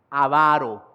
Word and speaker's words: avaro: Como ya lo decía, no es alguien avaro, sin acento en la primera A. Avaro.